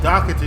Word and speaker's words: Doherty: everything in the community was about to change it was the day paid Doherty went missing oh docity is how you pronounce it's been Friday night